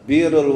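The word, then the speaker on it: بِرّ: Biru. Biru itu artinya berbuat baik. Kalau buru, buru artinya beras. Kalau baru artinya laut. Biru, baru, buru. Ah, itu makanya bahasa Arab itu unik, Pak.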